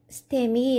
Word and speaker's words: STEMI: 첫 번째 는 ST 분절 상승 심근 경색 으로 , STEMI 라고 읽습니다 .